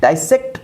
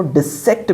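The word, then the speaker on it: dissect: डाइसेक्ट पढ़ते हैं इसको, डिसेक्ट भी पढ़ा जाता है, एक्चुअली तो डिसेक्ट होता है।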